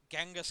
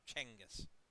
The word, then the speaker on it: Genghis: It may seem confusing to people, but it's actually pronounced Chenghis.